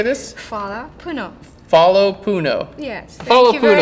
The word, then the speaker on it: hvala puno: Say, hvala puno. What? Thank you. How do you say this? Fala Puno.